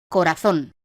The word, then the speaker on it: corazón: Ejemplo: corazón. La palabra corazón, de 3 sílabas, es aguda porque tiene la fuerza de acentuación en la última sílaba, zon.